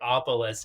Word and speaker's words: Opolis: me out or check opolis out I should say just atopolis opolis is o p o l i s o polis if you need to say it phonetically um you'll never forget